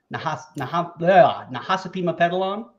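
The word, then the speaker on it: Nahasapeemapetilon: Gumbel, Wiggum, Nahasapima Pedalon, or Skinner? You pronounced that exactly right, Jay.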